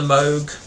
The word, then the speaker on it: Moog: He's on the Moog. I still get uncomfortable calling it a Moog synth.